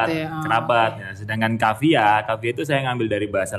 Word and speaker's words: Kafija: Yang benar ejaannya Kavia ya guys, bukan Kavija.